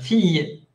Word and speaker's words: fille: Por ejemplo, en este caso, la E final no suena. Fille.